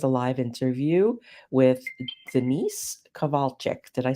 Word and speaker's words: Kowalcyzk: We are here today again with a live interview with Dennise Kowalcyk.